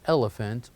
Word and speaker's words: elephant: me elephant so here elephant also it has in the middle P and H with the F sound elephant elephant and the next